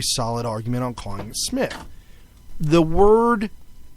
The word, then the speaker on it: Smith: but and I mean we pronounce our name Smith. If you cover up the S, it's Myth. You put an S on it, Smith. Right. People will like to call it Smythe.